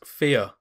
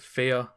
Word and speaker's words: Fe: the game number 6 fear first of all you might be wondering why on earth I just called it fear well that's actually how it's pronounced according to the developers anyway on to the